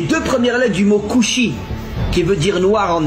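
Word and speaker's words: כושי: En hébreu, le mot noir se dit couchi. Alors, bien sûr, vous connaissez pas l'hébreux mais faites-moi confiance. Le mot couchi s'écrit en hébreu kaf va shin yud.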